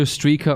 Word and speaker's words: Strike: You can call me either Streaka or Strike, bro. I prefer Strike, but Streaka is fine.